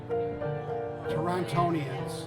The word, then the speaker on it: Torontonians: say that they say it on the news torontonians I know Buffalo are buffalonians and people from